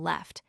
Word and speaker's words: lieutenant: The Englishman pronounces the first syllable left. The American invariably makes it loot.